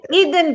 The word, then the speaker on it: Erin: Okay, Eden. Eden for love. Mwah. Eden. Okay, I'm gonna say it wrong now. I feel like. Well, okay, so Instagram, it's y'all. It's spelled Erin, but Eden.